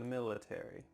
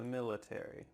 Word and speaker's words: military: a book about the military in american english you're going to pronounce each of the final letters a r y military in british english they often cut out the a so instead of military